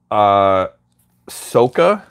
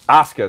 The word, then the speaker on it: Asuka: season, watch Magical Girl Spec Ops Soka. It's a lot of words. How do you pronounce the... Asuka, sorry. Magical Girl Spec Ops Asuka.